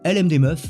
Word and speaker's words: LMDMF: trash que clyde vanilla lm des meufs c'est ainsi que se prononcent l'acronyme est une émission quotidienne